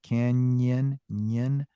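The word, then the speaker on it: cañón: Mexico Perfecto all right this one is just like the word Canyon in English you hear hear us do that Canon the Grand Canyon cany that's the same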